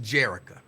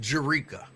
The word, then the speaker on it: Jerika: You keep telling people your name is pronounced Jerica. I have it on good authority that your name is pronounced Jerika. So in case you did not know, with your souse meat eat ass, your name is pronounced Jerika. Stop trying to convince people that it's Jerica.